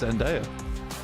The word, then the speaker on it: Zendaya: Just be quiet a sec whilst I listen to this pronunciation. It is Zendaya.